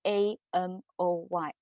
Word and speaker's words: Amoy: brand from um shaman so you could see a m o y amoy here is the the hawking um pronunciation of salmon so uh the the food